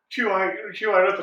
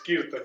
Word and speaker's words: Kirtan: I said QI Rathan, and you're like, no, it's Kirtan. So that's my fault. And, I apologise for it. The correct pronunciation is that.